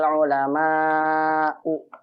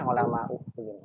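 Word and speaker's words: العلماءُ: Innama yakhshallaha min ibadihil ulama'u. Bukan ulama ya, ulama'u.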